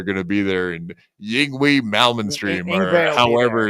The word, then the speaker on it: Yngwie Malmsteen: And I was looking through the list of people that are going to be there, and Yingwi Malmsteen, or however it's. Yngwie Malmsteen is how you say it.